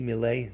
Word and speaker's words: Millet: I met my master in psychiatry, Lucien Millet, M-I-L-L-E-T, Millet, you pronounce it that, or Millet, who was what was known as a humanist psychiatrist.